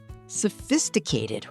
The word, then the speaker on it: sophisticated: Focus on the stress on the second syllable.